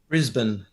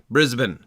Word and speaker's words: Brisbane: uh in australia um tell me how you pronounce the name of that city brisbane brisbane there we go yep that's right there's no bain there's no there's no dane that we have to worry about that's good brisbane that's